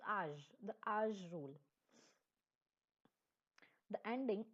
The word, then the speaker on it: âge: Like in English, we can say it's age, but this in French, its pronunciation is âge, the âge rule.